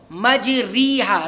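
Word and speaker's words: مجريها: جیسے دیکھو مجریہا, را کھڑا سے ری ہوتا ہے لیکن پڑھتے کیسے, مجریہا, ریہا, اسی کو امالہ کہتے ہیں.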